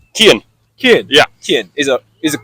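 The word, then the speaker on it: Cian: Kian. Kian. Yeah. Kian. Is it correct pronunciation? Kian. Kian. Yeah. Kian. It's the Irish pronunciation would be Kian. Yeah. C-I-A-N.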